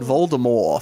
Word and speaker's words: Voldemort: Dale also said Voldemort for the first 5 books, so fuck him.